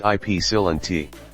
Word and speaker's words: Ypsilanti: The first Dominick purchased by the brothers was located in Ypsilanti, Michigan. Pronounced Ypsilanti.